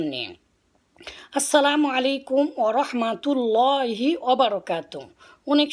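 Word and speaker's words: السلام عليكم: প্রথমে আসি আমরা সালামের উচ্চারণ নিয়ে। আসসালামু আলাইকুম ওয়া রাহমাতুল্লাহি ওয়া বারাকাতুহু।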